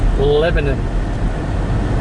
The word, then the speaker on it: Lebanon: It's not pronounced Lebanon. Well, how's it pronounced? Lebanon. Lebanon. That says It's not a foreign country.